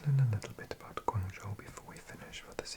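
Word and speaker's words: 广州: But in Mandarin, you pronounce it Guangzhou.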